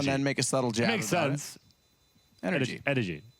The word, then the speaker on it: NRG: to nothing for NRG yeah which is actually pronounced energy is it right the drink yes it is